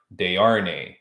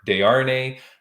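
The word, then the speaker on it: Desharnais: name so he he told me how to pronounce it is de'arnae it's d-e-s-h-a-r-n-a-i-s all right okay but it's de RNE uh Havoc FC he's fighting next week so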